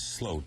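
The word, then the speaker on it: Sloot: name as Johan Vander slute because it's spelled s t but the correct Dutch pronunciation is slute as if it were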